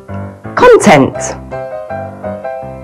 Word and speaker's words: content: The general rules for this special case are: as a noun, the stress usually falls on the first syllable. And as a verb, the stress usually falls on the second syllable.